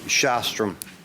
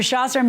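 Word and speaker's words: Sjostrom: Shostrom. You are suing? I'm sorry? Pronounce the SJ as SH. I will. Thank you. That was Mr. Shostrom.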